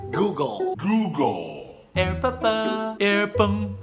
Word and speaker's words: Google: Gogo. Google. Gago. No. The correct way to say it is Google.